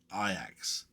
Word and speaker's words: Ajax: I can't I can't uh forget about Ajax pronounced Ajax for those who don't know.